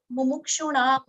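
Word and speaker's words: मुमुक्षूणाम्: So here, see, Mumukshunam, there is a halant. Okay, I was talking about the diagonal line, niche. So here, there is no a. It is Mumukshunam.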